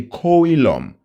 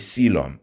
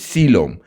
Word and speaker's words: coelom: So we say coilom h coilom but when we pronounce it we says sylum. Okay the o is a silent one. So it's sylum.